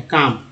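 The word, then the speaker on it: calm: या LM है, जैसे क्या करेंगे यहाँ पर, काम, अगर काम देख, काम में एल जो है साइलेंट हो जाता है, यहाँ पर एल साइलेंट है, काम।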